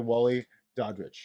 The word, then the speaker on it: Daudrich: remember this, I doubt if I'm rich. Yes. There you go. Dowdrich. Yeah, Daudrich.